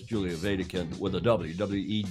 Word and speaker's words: Wedekind: messaging it says Julia Vatican with a WWE D I always pronounce it like it's the German uh because it is a German name w-e-d-e-k-i-n-d as I'm sure